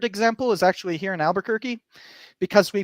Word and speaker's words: Albuquerque: after the Duke of Albuquerque and uh and like I'm pronouncing it the proper Spanish way like that's the actual Spanish way um but we misspell